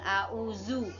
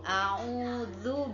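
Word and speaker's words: أعوذ: Hai disitu juga ada huruf dza Hai Bukan dibaca Za bukan full a'udzu tapi full a'udzu birabbinnas Nah disitu harus berbeda baca Aam makhorijul huruf nya jangan disamakan Oke kita ke ayat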